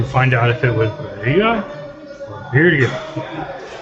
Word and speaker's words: birria: out if it was birria or birria. The accent is on the beer.